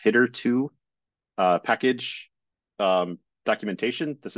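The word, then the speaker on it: httr2: or differentiate that this is from the um HTTR 2 or apparently it's actually pronounced hitter 2 uh package um documentation this is like the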